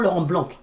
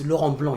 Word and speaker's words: Laurent Blanc: It's not Laurent Blanc, it's Laurent Blanc. You don't pronounce the C, bros, in France.